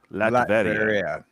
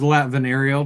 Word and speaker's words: Latveria: Latveria. Yeah. Oh, okay. I actually pronounced that one right. Nice. I thought it was Latvenario, but that's cool.